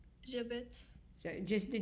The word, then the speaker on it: j'habite: So we have the H in French is silent. So it acts as if there is no H there. So how do you pronounce just the J and A? J'habite.